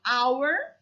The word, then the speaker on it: hour: an hour you say hour you don't pronounce the h so you say an